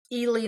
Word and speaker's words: Ely: embarrassing, but so the town of Ely, Nevada, in my mind, should be Eli, Nevada.